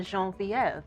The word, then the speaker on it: Genevieve: candidly to that uh Genevieve Williams is here with us today but as I like to call her jean-vieve because I prefer the French pronunciation and uh Genevieve is